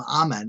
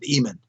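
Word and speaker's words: Amun: it or following it, who referred to the god Amen, pronounced the name Amen, except for Ethiopia. In Ethiopia, they pronounce it Eamon.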